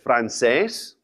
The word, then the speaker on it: francés: Also, another common language is francés, French. Francés. Another accent on the E.